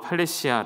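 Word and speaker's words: παρρησία: 보여드릴께요 담대하게 라는 말은 헬라어로 팔레 시아 라고 읽을 수가 있구요 그 뜻은 신뢰 확신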